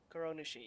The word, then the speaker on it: Kuronushi: Kuronushi, yeah, that's how you say it.